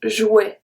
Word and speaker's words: jouet: Sometimes this word you can also hear un jouet, jouet. But technically the pronunciation is jouet, jouet. It's J-W-E-T, jouet.